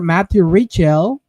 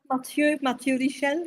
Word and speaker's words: Mathieu Richel: Matthew Richel. I don't know how to say it in French. Yeah, Mathieu Richel, yes.